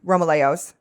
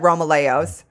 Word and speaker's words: Romaleos: But I use the Nike Romalos, however you want to fucking pronounce it. Dear God. I've always said Romaleos.